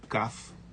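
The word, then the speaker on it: כף: de uma maneira forte, com um pontinho dentro dela, e ela é pronunciada como Kaf, ou ora ela pode ser pronunciada sem um pontinho, que é Raf.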